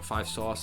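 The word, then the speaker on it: 5SOS: Swift and 5 SOS, or 5 Sauce, actually, pronounced it, Shawn Mendes, a whole bunch of other stuff on there.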